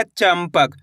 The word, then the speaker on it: चंपक: च में अनुस्वार की मात्रा चम प क तो मिलके बन जाएगा चंपक। दोस्तों इस शब्द के अंदर आधा मा का उच्चारण हुआ है।